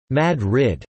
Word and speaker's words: Madrid: Madrid, although pronounced Madrid, the city was named for the capital of Spain.